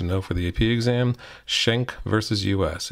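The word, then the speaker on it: Schenck: for the AP exam shank versus us it's pronounced shank not Schneck I don't know why people can't read that it's shank vs.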